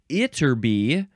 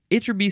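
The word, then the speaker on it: Ytterby: episode as well uh this word is from itby itby Sweden I guess that's a town or a city uh it is spelled y TT RB y so um maybe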